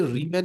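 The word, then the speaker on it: Riemann: সুবিধা হবে সেটা হচ্ছে রিম্যান ইন্টিগ্রেশন অনেকে রাইম্যান ইন্টিগ্রেশন বলে উচ্চারণ বিভিন্ন হতে পারে কিন্তু বিষয়টা একইযে ইন্টিগ্রেশ আমদের শিখতে হবে।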